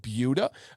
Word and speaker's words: Buda: That is the correct way to pronounce it, Buda. So Buda, Texas here.